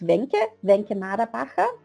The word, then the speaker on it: Wencke Maderbacher: Yes, it's pronounced Wencke Maderbacher.